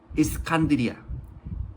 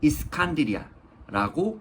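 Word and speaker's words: الإسكندرية: 해라 거 해라라고 하며 알렉산드리아는 스칸디아 스칸디아라고 합니다 이리 치이고 저리 치이는게 또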